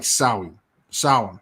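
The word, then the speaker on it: Samhain: to eat yeah it doesn't look anything like the way it's spelled right but it's like really it's it's the the way that they say it's pronounced like saui sour yeah so they have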